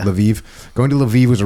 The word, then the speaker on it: Lviv: it uh going to how do you say laviv is that right laiv yeah laviv going to laviv was